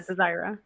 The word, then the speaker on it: Desira: How do you pronounce the S? Desira. Z or S? Yeah, Desira. Okay. Desira. I like it having, like, a Z pronunciation.